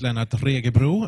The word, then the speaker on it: Lennart Regebro: okay thank you yes oh my name is Lana tricky brew and the pronunciation of this is optional it's fine i'm